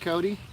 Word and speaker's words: Cote: If you don't know how that's pronounced, it's Cote, because I just said it. If you don't know how it's spelled, it's pronounced or spelled Cote, C-O-T-E. And it sounds like Kotex.